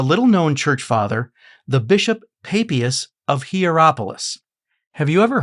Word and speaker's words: Papias: I say that this church father's name is Papias, but others might call him Papias, or some might even